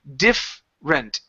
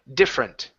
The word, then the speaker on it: different: is going to be diff rent different so we want to take out this vowel this e remove it so instead of Dom with three three syllables it's dom diff rent differ beef print there